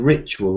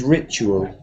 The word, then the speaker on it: ritual: pronounce um spiritual and ritual spiritual and uh you know I think native speakers have a kind of chew sound in these words spiritual and there's a kind